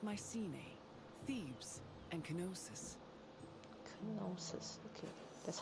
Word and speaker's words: Knossos: Knossos, okay. That's how you pronounce that name.